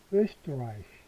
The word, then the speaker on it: Österreich: österreich. 이 발음이죠?